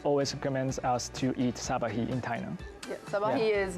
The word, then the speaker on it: sat-ba̍k-hî: Whoa, this is This is sabahi. sabahi. Yeah, like sabahi porridge.